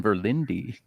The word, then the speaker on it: Verlinde: to have you co-founder of fretboard Journal Jason verlindi is that how you pronounce it yep that is how we pronounce